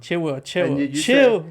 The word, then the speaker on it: Chilwell: It's Chilwell. Chilwell. I don't want to correct you too much on the pronunciation, but you messed up on a bunch of names already.